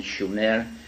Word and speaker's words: Sumer: in a land called sooner in in in the correct spelling and pronunciation schumer which meant the land